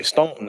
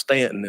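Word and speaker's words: Staunton: like they're spelled so most people would say Stoughton if they've never heard of the place but it's actually pronounced Stanton and we know we're not going to get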